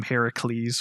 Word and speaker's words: Heracles: much have hercules or they call him in this game heracles which i think is the correct way to say his name but you have his